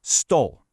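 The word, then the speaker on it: стол: We say it like this, stole.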